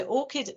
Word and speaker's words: ORCID: an academic you probably have to have that it's spelled o-r-c-i-d-o-r-c-i-d so orcid an orchid account is like a basic requirement